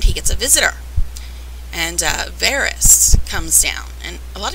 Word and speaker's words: Varys: name right either, but on the show they pronounce it Varys, so I'm guessing that is the correct pronunciation, not Various. It's Varys.